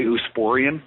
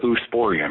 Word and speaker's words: Oosporein: In avian gout is caused by Eusporin. You probably know that. It's a mycotoxin. And so this bird got into Eusporin, and it's spelled Oosporein, and it probably was